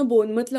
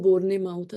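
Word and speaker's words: Bournemouth: आठवतंय मला लंडन वरन बोनमतला कसं मी बोनमत बोनमत म्हणून म्हणायचंच नाही मी त्याला असं बोरने माऊथ असं लाईक स्पेलिंग जसं असतात तसं मी प्रोनाउन्स करायचे बिकॉज दॅट्स दॅट्स व्हॉट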